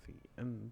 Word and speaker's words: cin: We use an object of the type iStream named cin, pronounced cin.